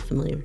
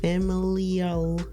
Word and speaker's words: familial: much familiar status um no it's not familiar familial what know familial that you said it right when you said it